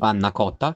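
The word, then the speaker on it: panna cotta: এটার নাম হচ্ছে পান্নাকোত্তা। আমার মনে হয় আমার স্পেলিংয়ে মানে আমার সরি আমার প্রোনাউন্সিয়েশন একটু ভুল হতে পারে, সো আমি আমার ইটালিয়ান ফ্রেন্ডের মুখ থেকেই তোমাদেরকে শোনাই। পান্নাকোত্তা কোন ফ্রাগোরে, বাট ভাই এটা দেখতে যতটা না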